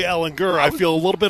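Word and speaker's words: Ehlinger: He says it, Ellinger. Okay, listen, right. I embraced it. I'm all in. Ellinger. Hard G. Ellinger.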